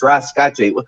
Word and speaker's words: Rasca: asking me hey what how do i even pronounce that what's it bro no no no it's rasca what does that mean where did you get